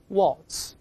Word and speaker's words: waltz: 个声音，大声那边 waltz，这是在转，可以这么说。